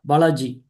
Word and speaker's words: Balaji: I'd also like to ask, is it Mr. Balaji? Did I pronounce that correctly? Yeah, Balaji.